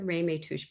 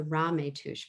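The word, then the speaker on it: Ramaytush: been saying it wrong it's not the rei may touch people it's the rametouch people and um his father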